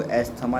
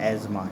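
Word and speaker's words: asthma: है फिर दूसरा एस्मा कभी भी कोई बच्चा मेरा इसको एथमा नहीं बोलेगा इसमें टीटीएच होता है बेटा साइलेंट होता है तो इसे क्या बोलते हैं हम एजमा ठीक है ये कहां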